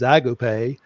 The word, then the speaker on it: agape: that's you know called Agape or Agape if you're here in the South it's the the actual uh uh way to pronounce the word is agop but a a love